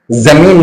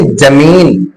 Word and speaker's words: زمین: حسین زندہ، لیکن کیا کہہ رہے ہیں حسین جندہ، زمین نہیں جمین۔ جن کا تلفظ تک